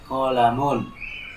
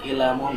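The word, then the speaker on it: قلمٌ: Kemudian yang berikutnya di baris yang pertama ya, hadza qalamun. Ini adalah apa? Pulpen. Seperti itu. Bukan kilamun, bukan kulumun atau yang lainnya.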